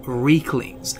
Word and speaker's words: Riekling: link these spears to the infamous Rieklings, or Rieklings, as both pronunciations are used within the game, therefore both pronunciations are acceptable.